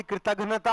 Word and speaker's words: कृतघ्नता: इस दुख का नाम ही कृतघ्नता है। कृतघ्नता, यहां कृतघ्नता और कृतज्ञता के उच्चारण में थोड़ा सा अलग अलग होता है।